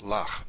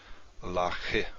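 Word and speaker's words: לָךְ: So it's pronounced lach, not lache, or something like that.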